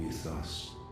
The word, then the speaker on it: Mythos: Mythos, so they're pronouncing the Y.